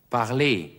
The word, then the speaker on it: parler: Parler. Parler. Das heißt sprechen. Das ER am Wortende wird wie E ausgesprochen.